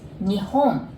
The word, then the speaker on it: Nihon: going to say so japan in japanese is nihon doesn't matter which one you use but i